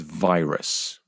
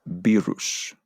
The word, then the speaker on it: virus: And the final word is virus. Don't be tempted to pronounce that virus. Virus.